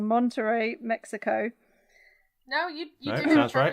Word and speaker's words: Monterrey: At theatrical showings in I'm probably going to pronounce this wrong, Monterrey, Mexico.